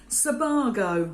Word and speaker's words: Sebago: men's shoes and we're going for the brand Sebago I had to Google it to make sure